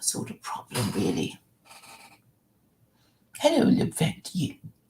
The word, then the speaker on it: Levent: And so to pronounce it in full is Levent, is it? Yeah. Correct. Spot on.